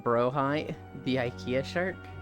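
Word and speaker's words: Blåhaj: so but we're going to keep calling it blage just to like spite air Yi just need to remember icy mainly plays pot it's pronounced like brohi the Ikea shark H there was no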